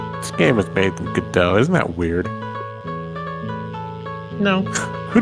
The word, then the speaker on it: Godot: so wait, it's pronounced Godot. Yeah. Yes. Yeah. It's not Godot.